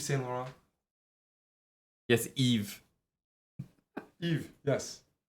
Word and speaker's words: Yves: He's Balenciaga or maybe Yves Saint Laurent. yes, Eve. Yves, yes, like my pronunciation.